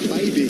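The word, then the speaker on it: Bibee: Tanner Bybee is how he pronounces it.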